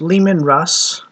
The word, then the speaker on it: Leman Russ: There's Leman Russ, which is like Le Man in French, Russ, like R US SS.